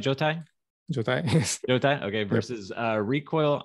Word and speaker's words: Jotai: Jotai, yes.